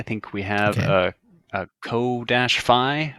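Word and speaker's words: Ko-fi: a co-fi. There's probably a better way to pronounce that. Coffee? But that goes, yeah, coffee. Let's call it coffee.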